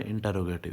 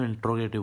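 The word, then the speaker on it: interrogative: Okay, अगले कौन से हमारे, इंटेरोगेटिव। इसके बच्चों स्पेलिंग का थोड़ा सा ध्यान रखना, INTERROGATIV, इंटेरोगेटिव सेंटेंसेस। कुछ बच्चे इसको इंट्रोगेटिव बोलते हैं, लेकिन ये इंटेरोगेटिव होता है।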